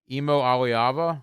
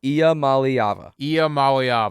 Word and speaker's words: Iamaleava: Nico Imo Aliava? Iamaleava. There you go. Iamaleava.